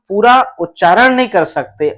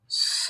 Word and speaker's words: स: यदि इसको आप सा कहते हैं तो ये वाला बोल रहे हैं, इसमें लग जाती है आ की मात्रा और इसमें अस्वर मिला हुआ है, इसमें कोई मात्रा नहीं है। ये सिर्फ और सिर्फ क्या है? ये स है। तो यहां आप समझ गए कि इस व्यंजन वर्ण का उच्चारण हमें कैसे करना है? स।